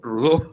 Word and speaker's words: Rodó: pone rodó No pero en Cataluña pronunciamos rodó O sea que rodó rudo aprendió a pronunciar su